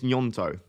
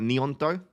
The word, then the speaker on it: Gnonto: We think, and it was Frosty that said this, you know, like gnocchi, I think it's gnonto, or like online it says like nionto.